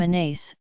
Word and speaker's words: Anise: I like the name anise pronounced an AIS e and I am happy